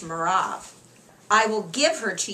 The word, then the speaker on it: Merav: my older daughter and in the Hebrew it's pronounced merav I will give her